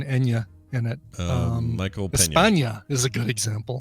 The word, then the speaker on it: España: That N with a little tilde is pronounced nya.